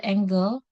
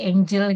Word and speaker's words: angle: Nah, ini hati-hati untuk acute angle. Oh ya, bacanya angle ya, bukan angle, apalagi angel gitu ya.